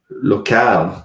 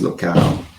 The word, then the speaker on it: locale: So it looks like our best shot is the locale. I guess it's not local, it's locale. If I'm pronouncing it right.